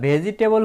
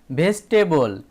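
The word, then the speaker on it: vegetable: বন্ধুরা ভেজিটেবল হবে না, হবে ভেজিটেবল। ভিই জিই, ভেজ। এখানে দেখো বন্ধুরা টি এ বি এল ই, এক্ষেত্রে কিন্তু আমরা টেবল উচ্চারণ করেছিলাম, কিন্তু এখানে টেবিলই উচ্চারণ হবে, হবে ভেজিটেবল।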